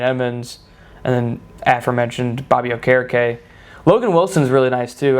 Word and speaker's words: Okereke: We used to call him Okereke. Yeah. Before he came out and he's like, yo, it's pronounced Okereke.